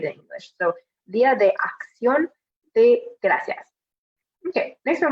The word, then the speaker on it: acción: Make sure for saying acción, that you're saying acción and not like acción. That's what I kind of, Spanglish pronunciation I sometimes hear from my students. So make sure that when you have a word that ends with C-I-O-N, that you're saying ción and not shion, like we would say it in English.